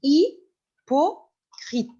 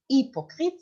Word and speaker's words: hypocrite: youf Ahmed Margerite et hypocrite d'accord mais ne dit pas il n'y a pas de he alors hypocrite mais ça commence par H mais on prononce pas le h alors hyocrite hypocrite c'est la personne qui